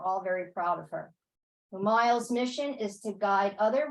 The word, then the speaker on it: Umayal: Did I pronounce that right? Yeah, Umayal. Umayal.